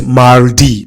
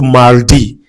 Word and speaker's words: mardi: So, second one is mardi. Please, make sure that you pronounce that R.